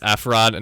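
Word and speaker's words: FRoD: It's F-Rod, not Fraud.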